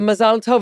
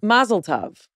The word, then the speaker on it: mazel tov: But if you're using the Yiddish pronunciation, the Ashkenazi is Mazel Tov.